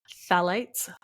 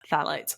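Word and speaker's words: phthalates: bisphenol a bpas and phalates phalates I'm pretty sure the pH is silent in front that which act as endocrine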